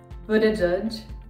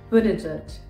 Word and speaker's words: Buttigieg: 이 영어 이름 어떻게 발음해야 할까요? 부티기그, 부러지그, 부터지그? Buttigieg, Buttigieg. 부티지지.